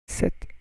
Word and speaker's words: sept: Sept hommes, sept hommes, sept hommes, sept hommes. Sept, yeah, you pronounce SEPT 7, huh? So it's sept, you don't pronounce the P.